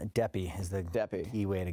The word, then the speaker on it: Deppe: What is the right pronunciation? Deppe is the key way to go. Deppe.